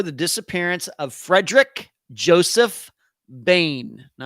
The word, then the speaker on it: Boehm: Disappearance of Frederick Joseph Bane now I know his his last name is spelled BM but um his last name is pronounced Bane as in b n